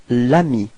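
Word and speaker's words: l'ami: with a voil so it's Ami and then you get Lami repeat Lami okay so plal as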